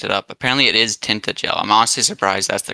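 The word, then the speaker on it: Tintagel: Apparently, it is tinted gel. I'm honestly surprised that's the correct pronunciation.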